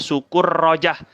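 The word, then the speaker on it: سكرجة: meja wala Fi sukurujah di sini bacanya Sukur rojah wala Fi dan juga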